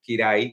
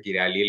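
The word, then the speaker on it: Kiraly: Ya, y también Karch Kirai, porque no se pronuncia Kirali, lo hemos aprendido hoy día.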